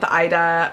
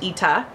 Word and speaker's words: ITA: spelled ITA so if you're wondering how to pronounce this and you're calling it The Ida or ITA it's actually called It's pronounced ITA and this this is the brand new one